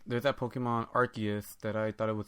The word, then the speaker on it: Arceus: Like, oh, maybe like Zeus, you know, like from Olympus. Right. But like, no, it's Arceus.